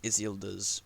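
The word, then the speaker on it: Isildur: of stupid to gender swap like they changed isilda's brother that's how you pronounce it they changed his brother into his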